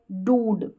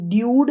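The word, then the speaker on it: dude: यहाँ पर है डूड, क्या है, डूड, ड्यूड नहीं बोल रहे, यू वाला साउंड नहीं आ रहा, ऊ का साउंड आ रहा है, बड़ा ऊ।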